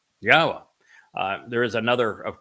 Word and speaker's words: Yahowah: of his name his shim that it is pronounced yahwa uh there is another of course exceedingly common